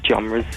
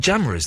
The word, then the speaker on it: genres: stop talking and I keep fitting loads of genres into one story. You said jamras there.